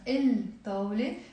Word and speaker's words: الطاولة: Same here. We will write ألف لام الطاولة. Actually here it's easier for you because I actually write the way we pronounce it, okay?